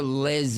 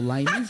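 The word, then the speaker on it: Les Mis: Well, you know, I went to the Les Miz. Not Les or Lay Miz. What is it? Le Miz. Yes.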